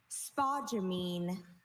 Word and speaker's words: spodumene: Your word is spodumene. Could I have all the information? Spodumene, this is the only pronunciation.